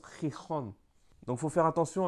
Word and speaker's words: Gijón: Mais en asturien, ils le prononcent comme un X, donc c'est un X, I-X-O-N. Donc là, derrière, ça prononce Gijón.